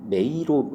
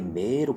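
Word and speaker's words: 迷路: 이것도 발음이 뭐 선생님들 따라서 뭐 메이로 이렇게 하는 분들도 있고 아예 메로 길게 하는 분들도 있는데 일본 방송이나 이런 거 진짜 뭐 코난이나 여러 가지 들어보면 이게 이자가 들어가는 것 같기도 하고 아닌 것 같기도 하고 이런 식으로 발음을 합니다.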